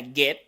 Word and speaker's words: get: pronuncia como ya expliqué, el verbo get, en donde la G se pronuncia como G del español, la E se pronuncia como una E del español, pero más larga. Si se dan cuenta, no suena get, suena get. La mandíbula se baja más y es un poquito más larga.